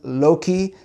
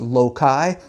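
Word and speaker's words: loci: In the ancient memory tradition, they use the term Loki, sometimes pronounced loai. I changed it to magnetic station because a lot of people just argue over the pronunciation of Loki or Lokai. Latinists say that both go, but I like station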